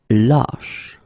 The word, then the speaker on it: lâche: So this one is a bit lower actually, so it goes deeper. It's ba. Same thing here when you get this circumflex. Lâche. Okay, so this a is actually lower or deeper than the previous we had.